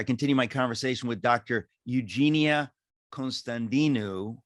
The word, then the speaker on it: Constantinou: Jeannie Constantinou, or as it's properly pronounced, Jeannie Constantinou, or closer to that.